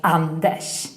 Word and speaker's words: Anders: Remember, in Swedish we pronounce Anders as Anders.